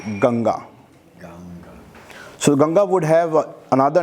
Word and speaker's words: Ganga: also known as bhagirathi the western or the english named it as ganges but would like to on the prompt pronunciation of it ganga so ganga would have